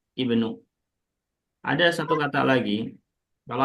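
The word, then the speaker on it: ابن: Kalau letaknya di awal kalimat selalu pakai kasrah. Jangan dibaca u, jangan pula dibaca a. Tapi Ibnu.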